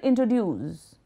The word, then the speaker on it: introduce: For example, the word introduce is pronounced with a stress at the end.